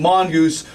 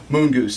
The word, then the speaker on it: Moon Goose: Not Mongoose, Moon Goose.